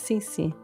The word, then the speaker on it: CiCi's: Cuz I thought that's how you pronounce it in Italian. But it's CiCi's.